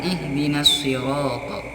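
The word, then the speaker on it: اهدنا الصراط: salah satu huruf as-syamsiah makanya dibacanya alif lam Yadi ikutkan atau diadopsikan ke crop ihdinas sirotol tidak boleh dibaca ihdinas sirotol cara yang benar ihdinas sirotol Nah ihdinas sirotol biro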